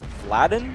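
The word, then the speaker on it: Vladan: needing contest context um Walden's name is apparently pronounced vadin terrorists win Ladon I'm not sure it's v l a d a n so um sorry Ted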